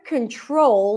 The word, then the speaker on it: control: let me show you in the word control the primary stress is on the second syllable control control control we don't say control but control now if you struggle